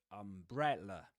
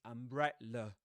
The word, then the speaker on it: umbrella: So bre is pronounced with the dress vowel sound. You'll see that on the chart too. And the final vowel sound is the schwa in l. And you'll see that on the chart too. It rhymes with the last syllable in the word comma, that one.